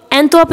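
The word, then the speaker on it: Antwerp: एंटवर्प इसको बोलते हैं, आर साइलेंट होता है, ये बेल्जियम का शहर है।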